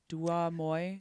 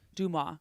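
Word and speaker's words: DeuxMoi: Duamoy? How do you say that? Dumois.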